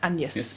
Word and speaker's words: Agnes: is called and yes it's about Agnes but once it's pronounced and yes in this Tony meets